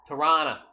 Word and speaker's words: Toronto: If I start saying Tirana, you guys will, you know, the Canadianisms, like take off, going T-O, Tirana on the 401.